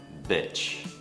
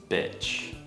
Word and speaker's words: bitch: biệt đấy bitch bitch Các bạn có thấy rằng miệng của mình lỏm và mình nói một cách thờ giãn không bitch bây giờ đổi Nguyên â beach beach Các bạn thấy chưa miệng của mình căng hơn beach that beach is